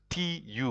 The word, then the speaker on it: tu: If you get difficulties to pronounce the U in French, you will practice to pronounce it properly. So this is tu, it is singular.